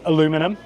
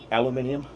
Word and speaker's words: aluminium: So Americans aren't wrong for calling it aluminum. Let's not treat them badly because of that. There's many things that we can make fun of them for. Aluminum, that's how they spell it. So unfortunately, we can't get them for that. We also spell it aluminium. We put the I in there. Okay. So we're both right.